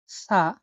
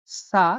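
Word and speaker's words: ث: পরবর্তী শব্দটি হচ্ছে সা। সা যেটা উচ্চারণ স বা থ এর মতো হয়ে থাকে।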